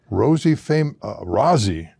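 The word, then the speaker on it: Rozzi: Now, the fireworks are by the Rosie, am I pronouncing it right?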